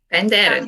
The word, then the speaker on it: Penderyn: How do you pronounce Penderyn? Penderyn.